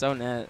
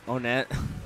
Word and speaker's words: Onett: Omega or yeah yes it's onet that's how the Japanese say it okay well how do Americans say it onette they better say onette whatever he'll he'll